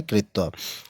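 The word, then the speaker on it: क्त्वा: पीछे त्वा लगाओ तो कत्वा हो जाएगा, कत्वा, त्वा क साइलेंट होता है त्वा लगता है।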